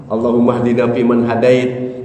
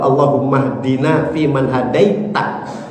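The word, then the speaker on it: اللهم اهدنا فيمن هديت: Cuman kadang bacanya kan Allahumahdini fiman hadait. Allahumahdina fiman hadait. Yang dimaksud adalah Allahummahdina fiman hadaita. Gitu.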